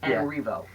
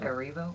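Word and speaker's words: Erivo: been missing every foe I have been mispronouncing at this whole time Cynthia areevo oh my yeah okay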